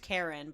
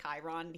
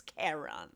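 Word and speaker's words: Charon: h a r o n Karen Karen it's pronounced Karen but it's spelled c a it looks like h a r o n but that's a point where he gets annoyed because people say Chiron he's like it's karon that's funny it's Karen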